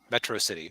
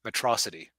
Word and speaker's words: Metro City: that's it because it's a city's called Metro City or as Megamind keeps mispronouncing it matrosity which actually now I